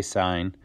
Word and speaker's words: sin: to say the word we don't say sin we say sign we don't say cos